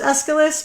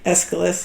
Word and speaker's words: Aeschylus: I think I thought it was Aeschylus, but like who the fuck?